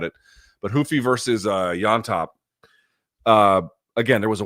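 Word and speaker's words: Llontop: Peru my mistake James yop the two L's become a y or as my wife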